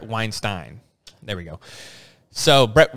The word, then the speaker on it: Weinstein: He pronounces it the opposite of Harvey Weinstein. So Brett Weinstein.